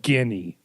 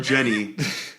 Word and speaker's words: Ginny: And they call her Jenny, but it's spelled Guinea. Because I was watching the thing and I'm like, Guinea, who the hell is Guinea? They're like, oh, Jenny. I'm like, oh, you are so witty.